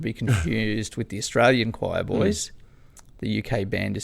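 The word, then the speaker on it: Choirboys: boys not to be confused with the australian choir boys the uk band is spelled q-i-r-e-b-o-y-s and um they're kind of more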